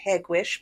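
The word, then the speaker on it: Hegewisch: information is Place locations it is pronounced hegwish by the locals it's one of 77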